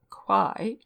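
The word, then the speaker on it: Kauai: island of the group quai is as often pronounced as if it began with a t and kalo is usually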